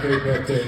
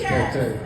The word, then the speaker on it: Kpetay: And the K in Kpetay is silent. Is that correct? Thank you. Thank you. So it's not Kpetay, it's Kpetay.